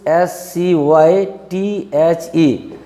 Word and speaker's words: scythe: The third one is SCYTHE.